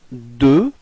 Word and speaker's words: deux: Okay, so now deux. Okay, final X is not pronounced.